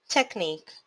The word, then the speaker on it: technique: tech nick two syllables primary syllable stress is on nick and the secondary syllable stress is on tech so how to pronounce this word technique technique television how many syllables